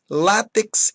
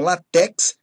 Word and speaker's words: látex: Impudico, rubrica, inaudito, látex e não latex.